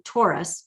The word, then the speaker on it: torus: That toroidal field, also known as a torus, T-O-R-U-S, not to be confused with the astrological sign Taurus. I think it's funny that it's the same pronunciation.